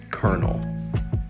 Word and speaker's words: colonel: r in the spelling it looks like colonel but really we say it kernel number two is comfortable